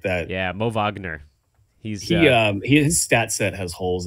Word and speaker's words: Wagner: Is it pronounced Wagner? It is. I heard Kaz say it like that. Yeah, Mo Wagner.